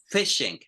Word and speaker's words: phishing: With you have PH, you explode. If you had an F, you close your mouth. Okay, so phishing, again, pronunciation, phishing.